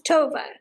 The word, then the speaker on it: Tova: TOA Sherman's name correctly it's Tova Tova Sherman so Tova like Nova Tova Tova like what